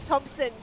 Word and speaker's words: Thompson: You said my last name wrong too. It's Thomas Thompson. Yeah. I forgot the P.